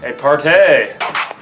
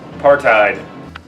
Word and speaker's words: apartheid: in South Africa during apartheid oh well I'm being told that's not how you pronounce it it's a apartheid Villages like these in